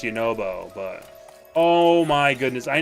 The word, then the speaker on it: Yunobo: We all know it's pronounced Yunobo, but...